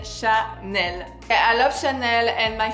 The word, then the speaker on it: Chanel: also my favorite one this is Sha n we pronounce on FR Chael I love Chanel and